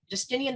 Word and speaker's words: Justinian: 28 years of age she married Emperor just Justinian is that how you pronounce it James gostumian yes hey Justinian the first and she evolved into one of